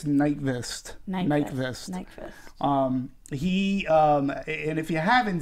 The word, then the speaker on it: Nyqvist: I believe it's Nyqvist.